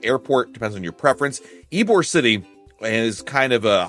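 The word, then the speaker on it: Ybor: There's also a Hampton Inn in Suites in Tampa Eore City. Eore is spelled Y B O R if you're not familiar with the area.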